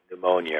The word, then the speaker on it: pneumonia: that uh you know we don't pronounce the p at the beginning of you know pneumonia or something um and